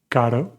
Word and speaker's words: caro: The R has two sounds. When it's just one R, unless it's at the beginning of the word, it's a soft R, like caro. And when it's in the middle of the word with two R's, it's a hard R, carro, carro.